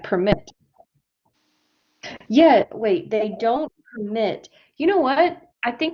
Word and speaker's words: permit: so numbers now permit number three underline mit yes this is a verb number three so we say it permit okay number four a parking permit we underline the pr in number four yeah permanent okay a